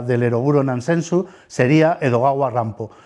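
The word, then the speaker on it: Edogawa Rampo: eroguro nans sensu sería edoga rampo cuyo nombre en realidad un seudónimo es la forma en la que los japoneses pronuncian precisamente Edgar alano edaga rampo este autor considerado el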